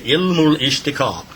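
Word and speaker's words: Ilmul-Ishtiqaq: That's really that's how we pronounce this up here. llmul-Ishtaqaaq.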